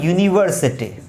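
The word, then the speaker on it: university: जैसे मैंने एक वर्ड लिखा यहां पर यूनिवर्सिटी। अब यहां पर ये है तो वोवेल लेटर, लेकिन इसका उच्चारण यह है जो कि एक व्यंजन है।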